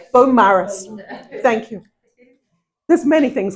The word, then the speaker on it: Beaumaris: I was going to look before I before I read this, uh how to pronounce Beaumaris. Am I saying it correctly? Beaumaris. Beaumaris.